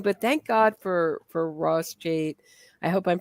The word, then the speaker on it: Cheit: Cheit. Yeah, Cheit. Yeah. Well, once you do pronounce something wrong, you're really, or at least I am doomed.